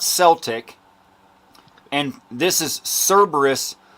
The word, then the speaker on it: Cerberus: either way okay okay it's it's pronounced it's pronounced Celtic not Celtic and this is Cerberus not kerberus just so you know I I absolutely love